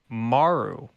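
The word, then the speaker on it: Marle: actually i had to look this up it's pronounced maru okay but it's actually spelled m-a-r-l-e it is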